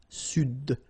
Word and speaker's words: Sud: L'Amérique du Sud, here you should pronounce the D. Sud, sud, okay?